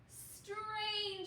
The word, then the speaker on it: strange: So how do we read this pattern? Ange, ange, because that E is silent. Okay, what is this word? Take a look. Ange. Strange.